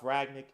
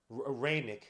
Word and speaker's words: Rangnick: Manchester United signed Ralph Ragnick. Rangnick, I'm pronouncing it wrong.